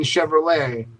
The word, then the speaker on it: Chevrolet: in Ford I mean I know the T is silent in Chevrolet but there's no T